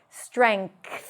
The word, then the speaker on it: strength: And sometimes people would drop all the messy consonants in the back and just say strength. N and th strength. All of these are valid pronunciation. You would hear people pronouncing it this way. But if you want to be on the safe side, just go with strength, ng, and then a th strength. And as a bonus, let's add in length.